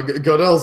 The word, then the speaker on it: Gödel: Gödel's an interesting one.